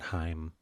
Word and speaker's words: Haim: background for her yeah it's pronounced at Heim Heim yeah whatever um yeah